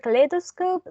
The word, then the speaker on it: kaleidoscope: the given words here in the word kaleidoscope the stress was on the second sea level lay and in the sentences